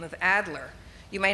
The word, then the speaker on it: Adler: finally had to say spell it any way you like but i'm saying it's adler and so they released it with the name with her name as ardler she says i'm not